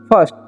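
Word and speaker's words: first: पढ़ते हैं हम लोग फर्स्ट ठीक है क्या पढ़ते हैं फर्स्ट ठीक है यहां पर आई का उच्चारण अ होता है ध्यान रखना है आपको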